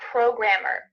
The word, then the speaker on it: programmer: Where do you have the stress? The second syllable. Programmer. Programmer. Yes. So the letter G, R, and A are in capital letter because you have the stress right there.